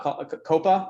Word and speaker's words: Kopa: parts that you recently launched with it uh coppa is that the correct pronunciation it is correct yes uh can you